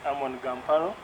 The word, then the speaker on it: Ammon Gamparo: about you that's very interesting um well you mispronounced my name but my name is amon gamparo thank you um i can't say my age